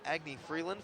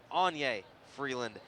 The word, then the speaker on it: Anya Freeland: the evening Tizer with Agni Freeland for the most so far in this contest and I apologize I've been saying her name wrong it is Anya Freeland as Mickey Glenn makes